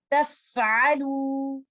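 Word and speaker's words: تفعلوا: So try to recite it like this. Taf'alu, taf'alu. Do not do qalqala on letter fa like this. Taf'alu. Because letter fa is not the letter of qalqala.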